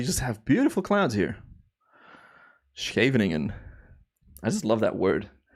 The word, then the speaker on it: Scheveningen: Also, not many English-speaking people can say SCH, the sound, I guess. Scheveningen. I had this with my buddy Chris yesterday. He did it quite well, actually. But yeah, we call that a soft G.